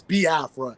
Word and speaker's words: Biafra: the i e sounds but it's ba Afra because even myself even with my my my Southern you know say accent is like I get tongue tied and I say ba AFA so it's ba AFA you know what I'm